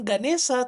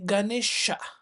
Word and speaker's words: Ganesha: Tapi bacanya itu bukan Siwa tetapi Shiva, bukan Ganesa tetapi Ganesha. Jadi S dengan itunya di atas itu sebenarnya dibaca sh.